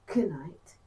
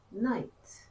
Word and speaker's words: knight: Don't say knight, say night.